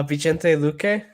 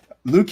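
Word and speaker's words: Vicente Luque: need to ask you how do you say lucay or brown or how do you say their names uh vigente luque and then randy brown luke okay cause every time i see his name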